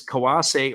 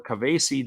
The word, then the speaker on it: Kawase: 0-0 is Kawase or Kavase, depending on how you say it.